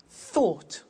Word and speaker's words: thought: Think, thought. Watch that again. O-U-G-H-T, ought. Write, wrote.